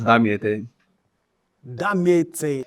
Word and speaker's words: Damiete: your name um my my name is pronounced as Dam dam so Christen how did